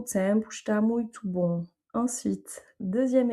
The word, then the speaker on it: tempo: Donc là, on a un son nasal sur le EM, tempo. Le O se prononce OU.